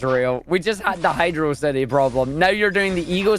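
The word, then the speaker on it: Hydrocity: a cool word and is what the game does it is not how Hydro city is pronounced look it's not my problem that the viscosity the VIS osity of the water in hydrosity causes you a problem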